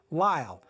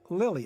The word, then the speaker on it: Lyall: Then in Red Noses with Thelma Todd and Zazu Pitts, you can hear Blanch Pac pronounce her name Lyall. Rhymes with smile. Her name is not Lily.